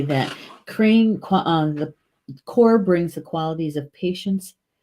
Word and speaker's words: Cor: carrom carrom eel from core and bloody cranesbill now Crane the word for crane in Gaelic is cor cor double check the pronunciation here we go crane yeah it's pronounced core and so we have